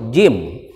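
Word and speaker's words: جيم: Huruf jim. Ini bukan huruf ja, tapi huruf jim. Jim dibacanya jim.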